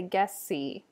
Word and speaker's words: gessi: For gessi, you'd want to say gessi. Ferrum. Melissa. So those double consonants get a little bit longer than they would in English.